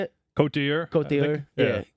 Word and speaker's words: Côte d'Ivoire: Côte d'Ivoire.